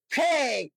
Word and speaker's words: fake: FAKE, ফেক, নকল, এখানে ইটা উচ্চারণ হয়নি।